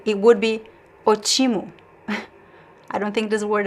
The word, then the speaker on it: ótimo: So we know the stress is actually in the letter O at the beginning. So ótimo. If we do not have this accent, it would be ótimo.